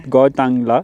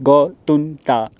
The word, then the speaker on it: Gotunta: I'm pretty sure you're wrong, bro. I think there's 3 syllables. It is. Let's do a name check with Manav Singh. I am pretty sure, and I am wrong. It is not Gotangla. What's it called? It is Gotunta.